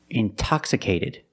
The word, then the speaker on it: intoxicated: Or words like intensive, intoxicated. We have the stress after the NT, we pronounce the T like a pure T.